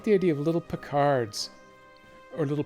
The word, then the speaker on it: Picard: The official pronunciation is Picard, but I'd been doing Pickard up until I saw the most recently released game where they actually say it out loud for a change.